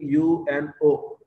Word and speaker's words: UNO: When we pronounce this, we are saying UNO. We are saying not saying you know, right? That means in initialism, this particular type of abbreviation wherein we are pronouncing every letter individually, UNO, ATM, FAQ, like that, right?